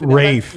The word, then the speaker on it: Ralph: And when everybody calls you Ralph, you got to be like, actually, it's pronounced Ralph. Or how's that? Ralph. Rafe. Now that said, Rafe Fiennes, fantastic actor.